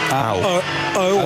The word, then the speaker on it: Au: Or are we pronouncing that name as Au? A-U. Antares. Ow. Or ow.